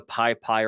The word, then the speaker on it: PyPI: hey go install this uh package from the piie repository that's spelled pypi if you're not familiar with what